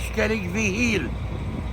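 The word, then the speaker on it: Sceilg Mhichíl: The right pronunciation for the Skelligs in my language is Skellig Vihil, Skellig Michael. Is that the Irish pronunciation? Irish phrase, yeah.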